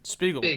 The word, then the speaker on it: Spiegel: Is it Spiegel or Spiegel? Spiegel. Josh Spiegel, yeah.